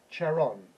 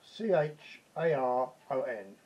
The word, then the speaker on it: Charon: And it was somebody called Charon, C-H-A-R-O-N. Charon or Charon, whichever way you want to pronounce it.